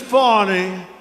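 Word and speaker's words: Fani: fawny fny you know fonnie spelled f a n i my name is fonnie f a n i i don't figure it you put a little French accent on the word with her lover Wade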